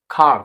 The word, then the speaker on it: car: আমরা কার বলি কারণ না, উচ্চারণটা ব্রিটিশদের জন্য খার উচ্চারণ হয়, খার উচ্চারণ করি।